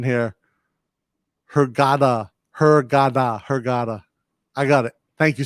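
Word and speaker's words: Hurghada: B, fixing my pronunciation here. Hergada.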